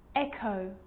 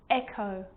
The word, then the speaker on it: echo: Now most of the time, CH is pronounced ch, but on small occasions or rare occasions, it's not pronounced, the H is silent. So it's choir, choir, echo, echo. With a G, ghost, ghost.